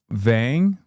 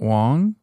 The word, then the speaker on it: Vang: It's Vang, not Wong.